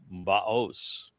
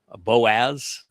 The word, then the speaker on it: Boaz: And the one on the north side, the left-hand side, is Baos. Sometimes it's pronounced as Boaz, but Oz and Oz, it's the same verb in Hebrew.